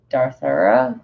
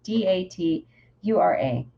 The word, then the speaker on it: Datura: And then I realized a coyote tobacco in bloom, a close relative to the Darthura. I'm totally mispronouncing that. It's Datura, and the many other seductive members of the nightshade family that make their home here.